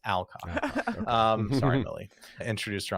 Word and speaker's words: Alcock: I keep giving this like British accent to her name. It's Alcock.